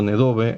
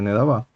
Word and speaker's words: Nedavá: la pronunciación israelí sefaradita, por ejemplo en este caso Nedove en lugar de Nedavá.